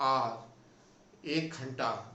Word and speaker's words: hour: इस वर्ड पे ध्यान दीजिएगा, इसमें HOUR, हावर नहीं बोलेंगे, इसको पढ़ते हैं आर, 1 घंटा। इसका प्रोनाउंसिएशन RO से शुरू होगा, आर, और इसीलिए इसके आगे एन लगाते हैं, ए नहीं लगाते हैं।